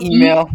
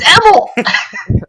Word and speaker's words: Emil: My name is spelled Email. Emil, and it's either email, Emil. It's Emil.